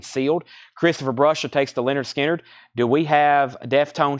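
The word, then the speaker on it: Lynyrd Skynyrd: analog Masters this is $ 69.99 Leonard skinnard pronounced Leonard skinnard cut from the 100% analog mastering their debut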